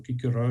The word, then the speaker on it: Cicero: the Roman Empire um Cicero for example wrote about it or kick her out if you want to pronounce it like that um and and so